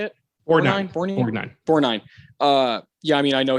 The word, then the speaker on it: Borgnine: Borgnine.